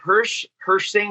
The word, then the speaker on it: Hirsh Singh: But this guy, Hirsh Singh. Hirsh, am I saying it right? It's yeah, you almost got it. Hirsh Singh is just what I go by.